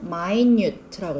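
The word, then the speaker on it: minute: 요렇게 했을 때는 마인뉴트라고 읽어야 돼요.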